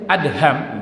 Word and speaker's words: Adham: saya bacakan Ibrahim bin adham bacanya Ibrahim bin ADB Adha tulisannya Alif dan hak dan mim Adha bukan Adam tapi ada hub Hai Beliau juga nulis